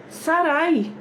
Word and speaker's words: Sarai: ouvi Então vamos lá sarai tem o i no final então quando ela o nome dela era era pronunciado um sarai era pronunciado sarai um ai no final e se e esse